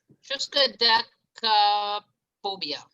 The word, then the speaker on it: triskaidekaphobia: Anybody want to take a crack at the pronunciation? Triskaidekaphobia.